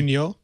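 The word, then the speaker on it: Pruniaux: His name is Patrick Pruniot. I think I'm pronouncing that right. You're in Montreal, Rene. Ritchie, am I pronouncing that correctly? Pruniot, I think.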